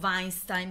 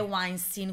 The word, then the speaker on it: Weinstein: mio l'ho sempre detto weinstein Ma perché in tedesco si legge così poi invece in America è weinstein quindi io lo dico